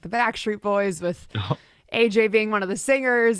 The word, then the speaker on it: Ajaye: tell us about the story of your name, because it is pronounced AJ, but you know, t- It's spelled out.